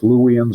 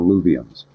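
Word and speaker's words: Luwians: l u w i a NS I can pronounce louan or Lans okay they're the people we recognize historically as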